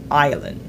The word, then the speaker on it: island: Aujourd'hui, je vais t'apprendre à le prononcer. Premier mot, c'est island.